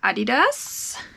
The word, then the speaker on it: Adidas: Okay, this is a pair that I will keep for my own kiddo, and coincidentally these are Adidas. Yes, that's how you pronounce it in German.